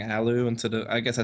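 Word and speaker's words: allu: the round is lost right so apparently I'm mispronouncing the name of yeah I should be saying Alo instead of I guess I said Aloo by accident whoops sorry about that folks Alo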